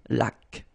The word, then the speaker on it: laque: When you get this Q-U, well, U is not pronounced, so you get K, like that. Une laque.